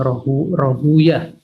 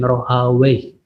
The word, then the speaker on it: Rahuyah: Kalau ahli hadis membacanya dengan Ishak bin Rahuyah. Kalau ahli bahasa membacanya dengan Ishak bin Rohawi.